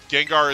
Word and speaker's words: Gengar: So, like it's one of those things where when they localized Gengar, uh rather than having it rather than keeping the Japanese, uh cuz cuz like I said, it it's it should be pronounced Genga.